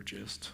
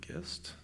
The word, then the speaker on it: gist: This is the ID for this gist, or gist. I think it's a soft G.